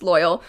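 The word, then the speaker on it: Loial: Ironically, there is one character named Loyal, pronounced Loyal, who is actually loyal to his friends.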